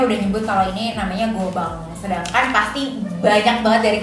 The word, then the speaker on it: Goban: Angels seperti kita nah terus kenapa dibacanya Gobang kalau dari website-nya sih dia Mereka bilangnya diucapkan dengan French Tong I karena kan kalau French Tong itu belakangnya belakangnya Eng kalau n itu bacanya Eng gitu Jadi kita simpulkan kalau bacanya itu adalah Gobang Nah kalau dari penyebutan